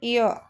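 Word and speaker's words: heir: Next है ही इज एन एयर। ए है ये। ठीक है? यहां भी एच साइलेंट है टू द थ्रोन।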